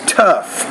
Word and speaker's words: tough: English so for example sometimes when you put gh at the end of a word it's more of an F sound like tough and tough now if it's